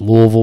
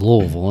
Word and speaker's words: Louisville: like no it's not everybody around here says louisville and like i just remember i don't want to say it when i was moving here i was like how did the locals say they say louisville so i was like all right that's how you say it just say like you have marbles in your mouth absolutely say it like you're drunk yeah we all are